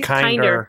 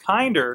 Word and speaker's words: Kindr: Are it's we kindr? Kindr, like kindness.